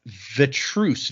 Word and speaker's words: Vetrhus: The name, I'm gonna try my best to pronounce this. The first name is Odd, ODD, and then it's Vetrus, VETRHUS.